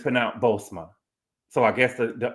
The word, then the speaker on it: Bozoma: o but it's pronoun bosma so I guess the the second o on it is uh is silent okay she said the